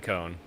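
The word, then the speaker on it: Kon: how they pronounce word it is Satoshi cone like cone like a like a safety cone because you know uh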